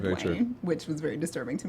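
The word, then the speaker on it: Dwyane: I call him Dwayne Wade because that's how he spells it, even though he pronounces it Dwayne, which was very disturbing to me.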